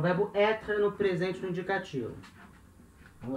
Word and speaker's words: être: A pronúncia desse R aí é lá na garganta. Então, être, être, certo? Acento circunflexo no R, com som de é, être.